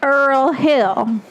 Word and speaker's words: Earl Hill: Um Earl Hill. Earl like oil.